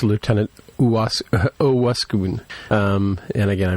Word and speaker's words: Owosekun: And it's Lieutenant Owosekun. And again, I mispronounced it last week as well.